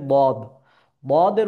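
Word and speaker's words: ض: আচ্ছা, তারপরে আমাদের পড়ানো হবে, আমাদের আসবে বদ। বদের উচ্চারণ ক্ষেত্রেও মোটাভাবে আওয়াজ উচ্চারিত হবে। কিভাবে? বদ, বদ। বদ, বদ, তিন আলিফ বরাবর টেনে আমাকে পড়ে নিতে হবে।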